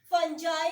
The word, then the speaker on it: fungi: अच्छा, इस फंजाई को अक्सर लोग जो है प्रोनाउंसिएशन में जो है फंगी भी कहते हैं. ठीक है, फंजाई भी वर्ड यूज होता है और फंगी भी यूज होता है.